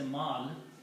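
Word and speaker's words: مَال: Full word is ma'alun, but you stop and say mal.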